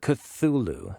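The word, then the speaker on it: Cthulhu: sanity loss in Call of I can never pronounce this right cthulu cthulu Thank you and other eldrich horror games for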